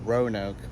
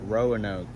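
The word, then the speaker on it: Roanoke: It's called pronounced Ronoke, but all out of town performers pronounced it Rowanoke.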